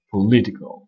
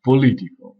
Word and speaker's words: political: Le O qu'on écrit dans political, on ne le prononce pas, on prononce un E, political, pas political, political.